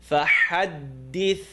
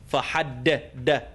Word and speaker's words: فَحَدِّثْ: Tip of the tongue, top 2 teeth, not the gums. It's not فَحَدِّثْ, d. فَحَدِّثْ, d, this. It's really important. Might seem awkward on camera, but people say فَحَدِّ. Fahadd. It's fahadd. This. Bring the tongue out, the edge of the top teeth.